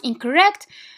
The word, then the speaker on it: incorrect: So but incorrect. Why is the stress in the second syllable? Because the first syllable is schwa.